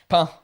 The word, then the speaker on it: pin: How do you say pine? Pain. Like bread.